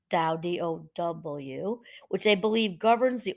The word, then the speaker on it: Tao: Its followers strive to live according to the principles of the Tao, pronounced Tao, Dow, which they believe governs the order of the universe.